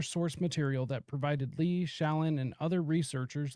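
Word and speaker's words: Shlain: This was revealed by Martin Lee and Bruce Shallon, I believe is how you pronounce his last name, who interviewed hundreds of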